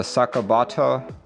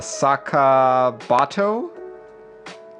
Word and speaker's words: Sakabato: modern ja and the sakobata or did i pronounce it crack nope i did not it's the saka bato yup sakabato and the new gadaron cap